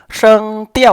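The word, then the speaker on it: 声调: เรา มา อาจ ตาม ชื่อ นะ ครับ ผม ซึ่ง เที่ยว ใน เชิง เปรี้ยว ๆ อ้า ซึ่ง เที่ยว จะ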